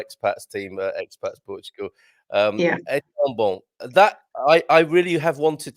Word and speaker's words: bom: And of course, the bon, we don't pronounce the M at the end, right? It's just the nasal sound of bon. So, bon.